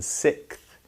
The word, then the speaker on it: sixth: the next one 60th you don't pronounce the x very commonly in sixth but you do pronounce